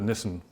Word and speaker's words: Nissen: And a lot of people pronounce it as Nissan, like the car, but it's actually the Nissen Building.